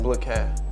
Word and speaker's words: Bliquez: BLIQUEZ. BLIQUEZ. You know what I was saying? I was saying BLIQUEZ.